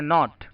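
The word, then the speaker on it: knot: के एन ओ टी यहां पर के साइलेंट होता है इसे हम पढ़ते हैं नॉट नॉट का मतलब होता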